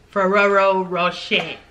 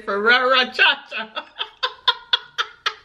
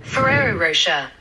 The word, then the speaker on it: Ferrero Rocher: Italian with French to say these with the pronunciation of their respective country of origin. Ferrero Rocher. What you gonna say? Y'all say Ferrero Cha Cha. Woo! Ferrero Rocher.